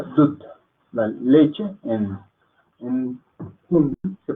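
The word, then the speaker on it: दूध: Esto se pronuncia dud.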